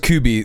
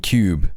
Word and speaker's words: Kubi: Her name is pronounced Kubi. Thank you. I was gonna say her name is fucking Cube.